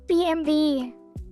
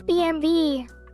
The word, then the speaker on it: BMW: What is the correct pronunciation of W BMW? BMV. It's BMV. Okay.